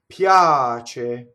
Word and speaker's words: piace: So the next thing, piace, right? Now, piace, this is a semi-vowel. It's not piace, right? Piace. Notice that the ch is single.